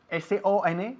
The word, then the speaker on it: son: S-O-N, que se pronuncia exactamente igual que la palabra S-U-N, que significa sol.